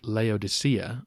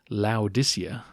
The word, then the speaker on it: Laodicea: At the port city of Laodicea, or Laodicea, as it may be better pronounced, he said that the